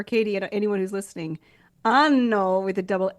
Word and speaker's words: anno: And in Venice, one friend said, Melissa, make sure you prolong the N in anno, because you're not. It's not a good thing. Just to clarify for Katie and anyone who's listening, anno with a double N is year, Hmm.